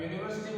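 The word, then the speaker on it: university: अब यूनिवर्सिटी में देखो यू अंग्रेजी का स्वर है भले ही हो, इसका उच्चारण क्या है? यू से हो रहा है।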